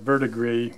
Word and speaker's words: verdigris: working on how to produce the vertebrae and that's how you pronounce that vert agreed which is the weathered